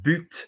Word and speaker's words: but: The goal, the general goal, but, notice but is pronounced with a T, general, to improve progressively the struggle against waste and to favor sustainable economy.